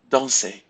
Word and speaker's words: danser: So we will not pronounce the R if you have a verb ending in ER. So repeat after me. Parler, regarder, inviter, jouer, danser, écouter, aller, dîner.